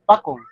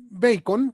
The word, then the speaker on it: Bacon: A ver, eh, ¿quién era Francis Pacon? Según tengo entendido, era considerado el padre del empirismo. Bueno, este Bacon, que es es la pronunciación eh correcta, digamos, de este apellido.